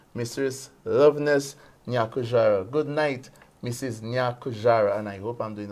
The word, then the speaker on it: Nyakujarah: put this inside mistress loveness good night Mrs nyakujara and I hope I'm doing a good job Folks at pronouncing this the last name good night Mom